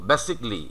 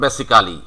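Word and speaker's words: basically: আমরা যদি উচ্চারণটা করি, তাহলে আমাদের উচ্চারণ দাঁড়াচ্ছে এরকম, বেসিকলি। এই যে বেসিকলি, আমরা কিন্তু এই উচ্চারণটাই পাবো খবর দেখতে যাই, অথবা আমরা যদি বিদেশিদের সঙ্গে কথা বলতে চাই, তাহলে কিন্তু আমাদের এই বেসিকলি এই কথাটাই ওরা বলবে, নট বেসিক্যালি।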